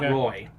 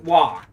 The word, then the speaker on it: Roy: i'm going with patrick i think it's wah how do you say it not roy patrick wah and he played back